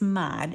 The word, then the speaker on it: Mod Podge: have mod podge and it is mod mod for all of those who who um you know tell other people that they mispronounce it but I have it